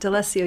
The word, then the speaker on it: D'Alessio: So welcome to the show, D'Alessio. Is that how you pronounce it? Correct. D'Alessio, you got it.